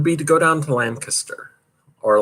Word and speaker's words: Lancaster: I always say Lancaster, and everybody tells me you pronounce it wrong. I guess around here, this whole Pennsylvania Dutch thing, they pronounce it Lancaster. Lancaster. Although my English friends all say no, it's Lancaster.